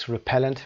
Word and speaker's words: repellent: A little food, insect repellent. بریم ببینیم repellent رو. Repellent تلفظ و استرس رو ببینید. adjective هم هست. repellent تلفظش رو ببینیم. قسمت پ استرس گرفته.